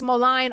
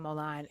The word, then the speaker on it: Moline: Water Iowa, East Molion, Iowa, and Molion, Iowa. I think I might be pronouncing Moline. It's M O L I N E. Apologies to Iowa if it's wrong.